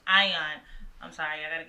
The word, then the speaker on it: AIN: We do have a place, Aeon Dallas. If I'm pronouncing that right. Ion.